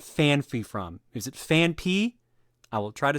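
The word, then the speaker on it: Phanpy: not the Pokemon it is but it's fan P not fany do you know where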